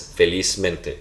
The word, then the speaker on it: felizmente: So felizmente, stress is in feliz.